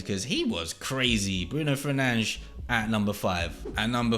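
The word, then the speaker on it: Fernandes: have 93 rated flashback Bruno fernan that is the correct pronunciation you know what let me go back to my pronunciation Bruno Fernandez there we go I am English but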